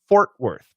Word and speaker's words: Fort Worth: The Fort Worth, and I'll type it here, Fort is actually what we call a long O plus R, and Worth is what I like to call the schwa R. So the pronunciations are actually different, but we got to keep them in American pronunciation. We keep it. So this is or, and this is or, Fort Worth, Texas.